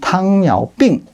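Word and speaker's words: 糖尿病: 중국어 발음은 탕야오빙.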